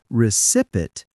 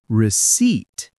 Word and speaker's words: receipt: Remember, don't say recipit, say receipt. The P is silent.